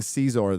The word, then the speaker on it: Xizor: It's pronounced Shizor. Shizor. I'm saying Caesar, though, so they can Caesar. Close enough.